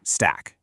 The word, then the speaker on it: STAK: Enter STNA, which is pronounced stack.